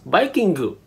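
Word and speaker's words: バイキング: So instead, he took the word Viking, pronounced as Vikingu.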